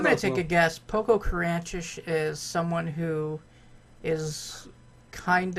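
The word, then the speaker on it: Pococurantish: The word this week is Poco-Carantish.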